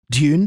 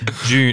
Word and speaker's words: Dune: Dune. How do you say it? I really prefer saying it the American way. If I'm saying it normally, I'll say Dune 2.